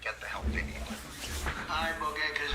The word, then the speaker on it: ibogaine: In 2024 study from Stanford University, 30 special operation veterans with traumatic brain injuries underwent, it's called ibogaine treatment. Ibogaine. Remember the name. Is that pronounced relatively properly what you said?